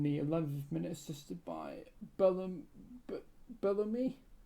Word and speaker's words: Belloumi: Yeah, I think Bellamy is closer. Bellamy, yeah, like Halloumi.